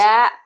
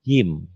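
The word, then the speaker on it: ج: Ja. Bukan. Ta. Bukan. Ini bukan ja, ha. Tapi ini jim. Apa, Bu?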